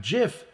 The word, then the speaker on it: GIF: that here's number 34 you refuse to accept jiff as the proper pronunciation of gif last to number 35